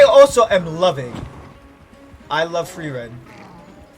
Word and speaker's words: Frieren: I love Frieren. Frieren. As they pronounce it.